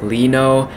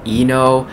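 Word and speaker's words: Lee Know: Oh, and by the way, I know now it's pronounced Lino. In my past reactions, I've been saying Eno, because in Korean, L is like pronounced E, like Lee is E, but I guess that's not how he says his name.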